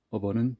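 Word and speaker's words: अब: 어버는 지금 나우란, 영어의 나우란 뜻이죠. 그래서 이 경우는 어버, 이렇게 버를 발음합니다. 왜냐하면 이게 시간을 나타내는 부사이기 때문에.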